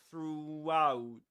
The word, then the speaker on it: throughout: So, through through and one key to nail this sound is to do this your lips you need to push them forward like this u through through and that's why Luke Thompson says that you can hear a W sound in between throughout throughout because he pushes his lips forward so much that he ends up